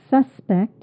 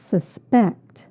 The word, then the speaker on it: suspect: You can tell by the stress on the second syllable. So if I said suspect, it would be a noun, but I'm saying suspect.